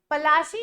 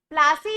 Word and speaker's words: पलाशी: But Britishers were so बैड at pronouncing our Hindi names कि उन्होंने उसे अपने एंग्लिसाइज्ड वर्जन में बना दिया, और क्या बनाया उन्होंने? प्लासे, जबकि वो असल में बैटल ऑफ प्लाशी थी।